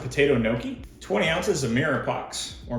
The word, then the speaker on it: mirepoix: 2 pounds of potato gnocchi, 20 ounces of mirepoix, or mirepoix, depending on how you say it.